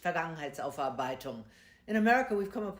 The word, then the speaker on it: Vergangenheitsaufarbeitung: past, that they call vegan, ginger. Y'all know I can't pronounce that shit. Where's the expert? Come on. Charlamagne, the Germans love long compound words. This is pronounced Vergangenheitsaufarbeitung.